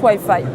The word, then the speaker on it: Weye Feye: donc le white faille c'est un petit clin d'oeil au moins huit fille en anglais qui se prononce ouailles faille pour plus d'informations vous